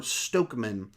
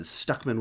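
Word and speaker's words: Stuckmann: most jeremy jahant or stokeman uh both of those names are mispronounced uh stuckman with a you uh i wouldn't say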